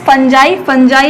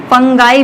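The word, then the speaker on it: fungi: Next is फंजाई या फंगस। फंजाई भी बोलते हैं इसको, या फंगाई भी बोलते हैं, आपको जैसी मर्जी प्रोनाउंस करो इसको।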